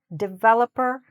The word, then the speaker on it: developer: So, the stress is here, not here.